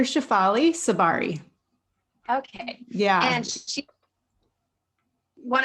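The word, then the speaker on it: Shefali Tsabary: Shakfali. How do you Yeah, say that? it's Dr. Shafali Sabari.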